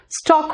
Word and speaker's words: stalk: स्टॉक, STALK में L silent है, Shubham, स्टॉक होता है।